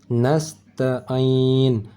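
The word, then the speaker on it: نستعين: nasta nasta nastatiu nastatitu nastainin nastain'in ini huruf Ain cara bacanya bukan di hidung dan bukan di Pangkal tetapi di tengah kerongkongan nastain'in B Bagaimana bacaan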